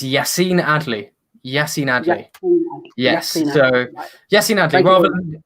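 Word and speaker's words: Yacine Adli: alex sorry how did you how did you pronounce that name uh it's yacine adley yassy nady yes so yes rather than the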